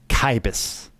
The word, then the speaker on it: Cibus: how to pronounce cbus I think it's Latin ah the classical version kyus the modern Italian e oh modern Italia italianate ecclesiastical ecclesiastical modern italianate ecclesiastical is chus Chibis we're gonna go with that one this is dexcore chus